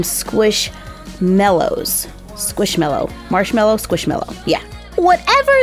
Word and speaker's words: Squishmallows: I've heard them pronounced a ton of different ways, but they're kind of like marshmallows. I mean, they've even got a picture of a marshmallow right there. So we should call them Squishmallows.